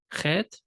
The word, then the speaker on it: Chet: Zain, Z, Chet. Think of it like a hard H, Payat.